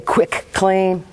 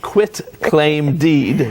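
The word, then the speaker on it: quitclaim deed: cuz some people say quick claim no it's a deed it's a form of what a lot of people use for selling transferring property and quit quick quit claim deed now you got me saying it wrong uh quit claim deed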